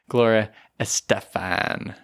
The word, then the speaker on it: Estefan: to talk about Gloria Estefan. She's like, no, it's Gloria Estefan. Yeah, because she's Guatemalan, correct? So let me try that again. Estefan. No, I'm sorry. You can't get the correct Spanish pronunciation.